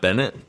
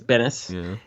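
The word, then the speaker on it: Benes: So, I guess uh Kramer finally learned how to pronounce Elaine's last name. Oh, not Bennett. Yeah. So, he knows now, jackass, that it's Bennis.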